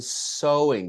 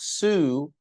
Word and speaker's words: sewing: This is pronounced so not sue. So by the way, sue is is spelled this way. Sue is when you take someone to court. That is sue. So is the same as so. Can you imagine that? Very difficult. So sewing and so what? It's the same uh pronunciation. Very different spelling.